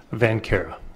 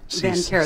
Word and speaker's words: Van Cara: Van Cara. Van Cara. The C is silent.